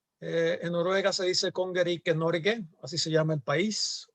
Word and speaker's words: Norge: El nombre oficial en noruego se pronuncia Norge.